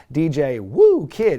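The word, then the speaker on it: DJ Whoo Kid: daddy ass and dj woo kid and apparently dj woo kid is the official pronunciation early on lee's running the ropes doing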